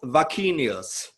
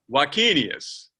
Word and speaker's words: Wakenius: name the same way how do you pronounce your last name right and my name is ulf vacchinius vakinius yeah i can tell